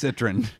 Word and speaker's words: Citroën: All you people who said I couldn't pronounce Citroën. I think you just keep getting worse. Citroën. It's Citroën.